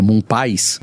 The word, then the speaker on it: Moon Pies: O Moon Pie, acho que não é Moon Pie também, é Moon Pies.